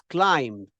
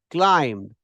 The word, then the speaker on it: climbed: The pronunciation is climbed. Climbed. B is silent. You don't climb a ladder. You don't climb a ladder. You climb a ladder, right? The B is silent.